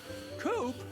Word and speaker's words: Coop: can call me coop coop that rhymes with scoop i think we're gonna